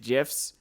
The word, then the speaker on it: GIF: I'm wondering if the creation of GIFs or the creation of GIF fodder, we're gonna lose a whole lot of fucking respect from idiots here, because I'm never gonna not pronounce it with a soft J, because it's just like,